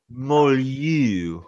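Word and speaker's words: moelleux: be sweet, and then the Merlot, I think is how you say it. I don't know. Which is going to be Merlot. No, it's Moe. LLEUX, I think. Merlot. Molyeu. I'm going to say Molyeu.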